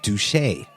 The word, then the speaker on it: Duché: Jacob Duché. There's a little accent mark over the e in d u c h e, which is why I pronounce it Duché, but the some if